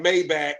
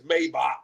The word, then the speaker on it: Maybach: The same way people be like Mayback when it's Maybach.